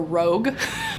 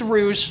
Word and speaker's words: Rouge: I can't remember if I said Rouge or Rogue by Mono Awad I'm really nervous that I said it wrong it's Rouge Rouge by Mono wad is the actual book